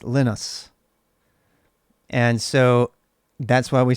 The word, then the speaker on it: Linus: guy is from finland and his name is pronounced linus and so that's why we say linux and